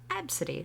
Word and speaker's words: Absidy: Absidy, like the alphabet. A, B, C, D, E.